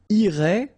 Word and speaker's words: irait: And then, il, masculine form, irait, final T not pronounced.